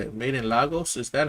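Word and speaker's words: Lagos: Made in Logos. Is that how they pronounce it? Yep, you nailed it. It's pronounced made in Legos.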